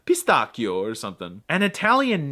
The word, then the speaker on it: pistacchio: I mean, it's pistachio in American, but I think it's pistacchio or something. And Italian names. Yeah, by a rule of thumb, the ch sound is the equivalent of a K.